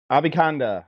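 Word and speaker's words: Abanikanda: Abikanda, or Abika Abikanda is the way I pronounce it. Abikanda.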